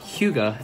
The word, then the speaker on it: Hyuga: syllables and are good but Hyuga is probably what gets people the most trouble so you say Hyuga right but there are people who would put the H or one together and then it